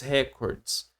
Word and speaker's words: recorde: muito na televisão record, a palavra é record. O recorde mundial. Record. Aqui, ó. Eh, não tem um acento, tá? Eh, não tem um acento, mas a palavra tônica, ela fica aqui, ó, no cord.